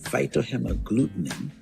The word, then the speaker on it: phytohemagglutinin: The person who I was learning this from, they weren't pronouncing the word properly. But yeah, phytohemagglutinin is a lectin, or it's some abbreviated PHA.